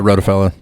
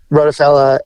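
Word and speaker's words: Rottefella: Rockefeller I think that's is that how you say it yeah wrote a fella yep rotofella and I got you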